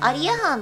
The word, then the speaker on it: アリアハン: 覚えといてくださいアリアハンのイントネーションは栗ご飯と一緒らしいんでしっかり覚えといてください盗賊バコタ